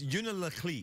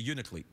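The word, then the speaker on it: Unalakleet: It's unillet. It's unillet. But then no one like if you're local, you don't say that. You leave out a syllable. So you just say uniclet.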